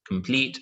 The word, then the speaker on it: complete: Above, behind, complete. Again, all of them are 2 syllables. Same thing, 2 syllables. But now our stress is on the second syllable.